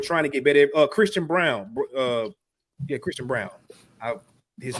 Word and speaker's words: Braun: It's spelled Braun, but I think you spell it. You say it Brown though, right?